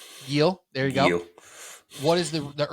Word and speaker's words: Gil: Gil.